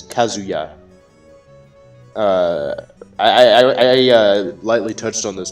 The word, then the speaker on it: Kazuya: How do you feel about Kazuya? Oh, actually, I pronounced it wrong again. It's Kazuya.